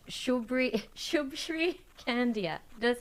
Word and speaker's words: Shubshri: Shubshri Kandiah. Did I say it right? Shubshri, yeah, that's right.